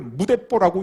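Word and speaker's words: 無鉄砲: 이때 일본에서 새로 나온 신조어, 한문으로 무철포, 그걸 무대뽀라고 읽는다 그럽니다.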